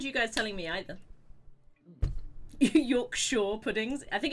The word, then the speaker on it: Yorkshire: Which is pronounced Yorkshire, but I was Yeah.